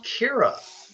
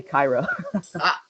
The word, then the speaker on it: Kira: away that was kira and i might have mispronounced that tell us about yourself actually you pronounced it right most people will call me kyra okay yeah but um